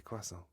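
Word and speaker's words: croissant: and he's like you I'm pretty sure you say quason and everybody was taking the piss out of him for saying it wrong and it's kind of like pretty sure it's closer to the French than chant anyway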